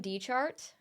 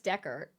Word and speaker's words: Descartes: You've been saying D-chart? I'm pretty sure it's Descartes.